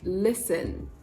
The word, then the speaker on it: listen: in a word like listen listen now listen to that word carefully you'll notice i didn't say listen listen so in listen the letter t is silent and replaced with the schwa sound of course the most